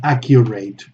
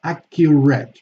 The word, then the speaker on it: accurate: adequate yes valid adequate same thing with accurate it's not accurate no it's accurate do you see the difference between accurate which is correct and accurate which is incorrect so accurate okay applicant